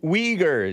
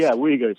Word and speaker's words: Uyghurs: The Uyghurs, yeah. I think is how it's pronounced. Uyghurs.